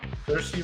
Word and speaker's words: Saoirse: And so I believe it's actually pronounced Cersei. Cersei Ronan. Even though it doesn't look like Cersei, I think it's pronounced Cersei.